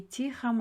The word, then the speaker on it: тихом: Ошон үчүн в современном и тихом районе. Ударение тихом иге түшөт, районе.